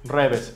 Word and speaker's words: REWE: Hay unas tiendas que se llaman Reves. Se escriben Rewe con W, pero los Reves son tiendas de conveniencia, supermercados, en los que uno puede comprar comida ya preparada.